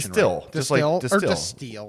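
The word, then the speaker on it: Destihl: i'm getting that pronunciation it's distilled like a distiller yeah don't mind me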